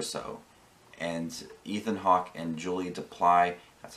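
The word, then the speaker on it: Julie Delpy: And Ethan Hawke and Julie Duply, that's how you pronounce her name, seeing them, you know, see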